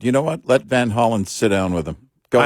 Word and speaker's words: Van Hollen: When Van Hollen, which oddly enough, the real pronunciation of their last name is Von Hollen, but.